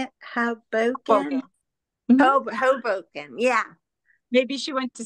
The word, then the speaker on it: Hoboken: Hoboken, yeah.